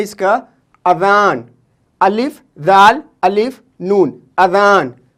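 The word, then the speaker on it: اذان: ठीक, दूसरा यूज़ है इसका अज़ान, अलिफ दाल अलिफ नून, अज़ान।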